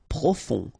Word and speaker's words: profond: Profond, final D not pronounced, O-N, on, profond.